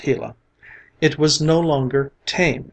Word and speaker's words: Gila: when the hot sun shone down on the Gila monster pronounced Gila it was no longer tame and gentle but